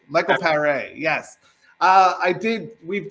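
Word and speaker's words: Michael Paré: Perry, Michael Perry from uh Eddie and the Cruisers. Um M Pereé. Michael Pereé.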